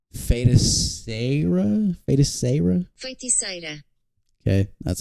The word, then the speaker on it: Feiticeira: Feiticeira.